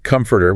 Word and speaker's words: comforter: You've got the comforter, which is the thick blanket. Stress is on the first syllable. Comforter.